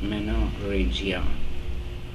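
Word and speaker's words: menorrhagia: extra bleeding or manoria you pronounce it as manoria that is heavy bleeding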